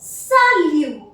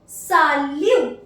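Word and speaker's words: salut: what does this mean if a word finish bye a consonant do not pronounce that alphabet for example purple the word सलू सालू आई am pronounce this word S सालू एंड I mark a cross here नवर I mark a cross that mean we don't have to pronounce the alphabet and the word सलू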